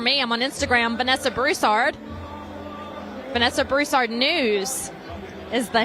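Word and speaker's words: Broussard: the same for me I'm on Instagram Vanessa brussard Vanessa brussard news is the handle then on Truth social it's just my name Vanessa brussard a lot of people ask me all the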